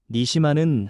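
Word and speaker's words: נְשָׁמָה: 그리고 생기라는 말은 히브리어 발음으로 니시마입니다. 니시마는 하나님 자신의 숨, 하나님의 생명의 숨결을 뜻합니다.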